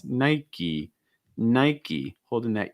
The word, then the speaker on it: Nike: so in the us people are going to pronounce the e sound at the end so it's not nike it's nike nike holding that e